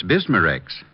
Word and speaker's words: Bismarex: B I S M A R E X.